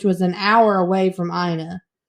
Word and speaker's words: Ina: yes i know it's pronounced it's not ena no it's aina now you got me think double guessing but